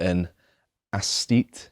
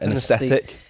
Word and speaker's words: aesthete: because he is quite an aesthete. Is that how you say it? An aesthetic? An aesthete, yeah.